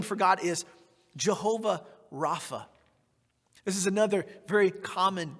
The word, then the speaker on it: Rapha: and Jehovah Rapha right sometimes pronounced rappa right so either r-a-p-h-a or r-a-p-p-a I've seen both it's used both but it means the